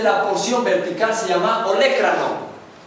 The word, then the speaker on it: olécrano: porción vertical se llama olécrano tiene mucha dificultad la mayoría pronunciar esta palabra oan o leanan no sé qué cosa dice olecrano inferiormente al olécrano se